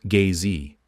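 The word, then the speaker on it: gzhi: for the Primal ground in drogin is G pronounced gay Z which translates as basis the giji is the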